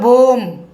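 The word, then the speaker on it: bomb: দেখুন শেষে কি রয়েছে, এম বি রয়েছে, বি এর পরে কিন্তু কোনো ভাওয়েল নেই, তাই এখানে আমরা বি উচ্চারণ করব না। কি উচ্চারণ করব, তাহলে শব্দটি উচ্চারণ হবে বোম। বোম মানে আমরা জানি বোমা।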